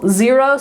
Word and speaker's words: Xero: Xero, spelled with an X, is another, like probably the second most common one.